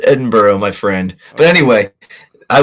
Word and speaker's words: Edinburgh: No, it's it's pronounced Edinburgh. It's pronounced Edinburgh, my friend.